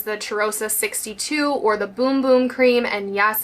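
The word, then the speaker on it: Bum Bum: Now, it's the same exact scent as the Cherrosa 62 or the Boom Boom Cream. And yes, it's pronounced Boom Boom.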